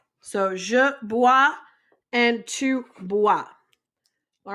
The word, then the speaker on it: boit: And il, elle, on boit with a T. Bois.